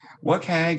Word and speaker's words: WCAG: how does it help what keg is the pronunciation and for the web